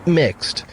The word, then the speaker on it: Mx: doesn't use the pronoun Mr., instead using MX, pronounced mixed, a title which does not imply a gender.